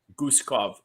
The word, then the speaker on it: Guskov: Guskov, I think is how to pronounce his name properly. Guskov to be uh exact.